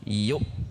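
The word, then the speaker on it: يُؤْ: Baik, selanjutnya huruf ya dhammah, hamzah sukun tertahan. Tidak yu bacanya namun yuk. Yuk seperti berhenti atau terpisah dengan huruf mim di depannya.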